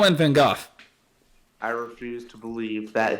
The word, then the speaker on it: Van Gogh: Even like Pinocchio, Batman, manga characters, random self-portrait of Vincent van Gogh.